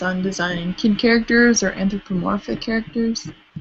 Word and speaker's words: anthropomorphic: something more anamorphic or anthromorphic is that how you say it correctly anthropomorphic yeah I think that one